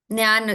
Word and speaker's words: ಜ್ಞಾನ: ಹಾ Jnana, okay, J is silent.